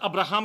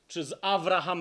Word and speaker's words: Avraham: made a covenant with Abraham (or Avraham as his name is actually pronounced) It was a powerful